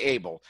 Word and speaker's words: Abel: name evil Apple amyl okay well say Abel Abel is an eligible educator for